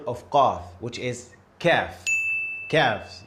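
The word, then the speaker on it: كاف: Kaf, you see? I showed you a little smile. This is how I pronounce it.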